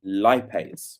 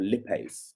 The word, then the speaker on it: lipase: So this here is the lipid, the substrate, which is aka fat, and this here is the enzyme, which is a lipase or lipase, depending on your pronunciation.